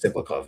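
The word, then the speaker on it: Tsyplakov: Now you've done that to me deliberately is how you pronounce it. Ciplov.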